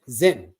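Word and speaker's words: Zyn: Scott, thank you, because it is Zen, right? Then I said it right. Z-Y-N, Zen.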